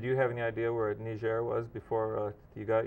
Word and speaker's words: Niger: uh you served in Niger West Africa um they actually pronounce it ner because it's a frankophone country and it's um just